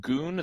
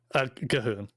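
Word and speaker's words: G'huun: And Blood of Goon and Goon the Blood God. Am I pronouncing that right? Gahoon. Gahoon. I see.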